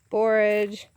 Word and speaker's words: borage: want i guess but i say it's borage i don't know how you would actually say it and then there's nasturtion